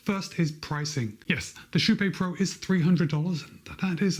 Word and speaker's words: Kype: that word KYPE and you're going to want to pronounce it KYPE. But by now, I've said it so many times, you know that the correct way to pronounce the name of this shoe is KYPE PRO.